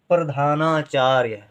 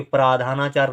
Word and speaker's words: प्रधानाचार्य: फिर है अगला शब्द प्रधानाचार्य, प्रधानाचार्य, यहाँ पर अब यहाँ बड़े की मात्रा नहीं लिखेंगे कि प्राधानाचार्य नहीं होता है, प्रधानाचार्य होता है।